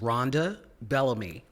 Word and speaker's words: Rhonda Bellamy: please pronounce your name correctly for me yes it is Ronda Bellamy I am the founding executive director of the